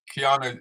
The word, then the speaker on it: Kiana: Kiana is the correct pronunciation.